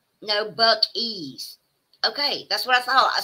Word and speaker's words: Buc-ee's: Pronounced Buckies. No, Buckies.